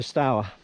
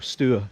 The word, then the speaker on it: Stour: It joins up with the River Stour, or Stour, depending on how you want to pronounce it.